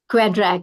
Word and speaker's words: QEDRAK: quedra ma'am have I got it right the pronunciation quedra yes yes and with an this was with